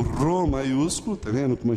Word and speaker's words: Rô: Ele é sempre, ele faz esse tremor na língua e ele é forte, Rô, como em rato.